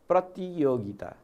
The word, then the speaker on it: प्रतियोगिता: यसलाई पनि यो प्रतियोगिता हो, प्र यसरी प्रष्टसँग भन्ने है। यो टी होइन ती हो, प्रतियोगिता, प्रतियोगिता ल।